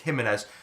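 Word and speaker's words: Giménez: So it's either going to be like, I got his name wrong last time, I called him Gimenez, but you guys have told me it's Jimenez.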